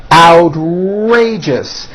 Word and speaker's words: outrageous: Outrageous, 3 syllables. First syllable has the ow sound followed by an R. Outrageous.